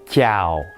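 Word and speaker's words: chào: ça s'écrit comme ceux ci et ça se prononce ciao ciao ciao donc bonjour un vietnamien cas il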